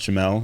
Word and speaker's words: Jamal: My name is Jamal, spelled Jamal, pronounced Jamel.